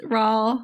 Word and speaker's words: Raul: And then we launched into the books, where unfortunately, what's his face, Raul, rhymes with tall, had not died in his hang gliding accident, which is a real bummer.